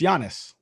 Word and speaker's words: Giannis: And my man Giannis, whatever, I always pronounce it wrong. It's Giannis.